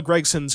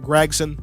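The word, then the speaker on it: Gragson: his name aren't i isn't it gregson it's spelled g-r-a-g not g-r-e-g g-r-e-g is greg like greg biffle g-r-a-g is greg i think it's gregson but i can't force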